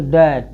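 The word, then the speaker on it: debt: इसको डेप्ट, बी को क्या साइलेंट करें? इसको पढ़ेंगे डैट, क्या पढ़ेंगे?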